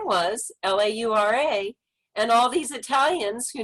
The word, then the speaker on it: Laura: gave the example of if we english-speaking people would say l-a-u-r-a we might say her name is laura um but you said it would be la ur and it's not really